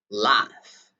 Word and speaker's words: laugh: it's a common word most people they pronounce latch laugh although it's pronounced l a u g but we pronounce laugh okay laughing so what